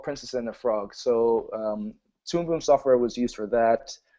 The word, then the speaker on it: Toon Boom: I just love 2D animation, and I also use Toon Boom animation software, who are also official supporters of the Tales from Nanumea series.